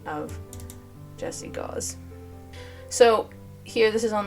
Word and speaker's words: Gause: It actually rhymes with laws and she has citations.